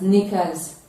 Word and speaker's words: knickers: r is pronounced as knickers also as k at the beginning but the k in that spelling is silent it is pronounced as